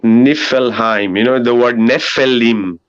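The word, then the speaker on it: Niflheim: and then there's also nevilleheim pronounced nifelheim you know the word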